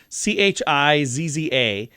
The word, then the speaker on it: Chizza: Yeah, this week, KFC debuted the Chiza, I think is how you say it. It's chicken pizza, Chizza.